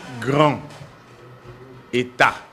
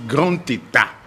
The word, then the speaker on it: grand état: ne dit pas grand quand on dit grand état la liaison dans la liaison on dit grand état je ne dis pas que non état s'écrit avec la lettre T l'État s'écrit avec E. Mais lorsqu'on dit grand et cette liaison là grand état grand état grand état bon ça